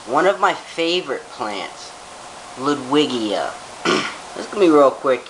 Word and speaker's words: Ludwigia: watched the other day he pronounced it liguidia like how do you get luguidia liquidia out of ludwigia okay it's pronounced okay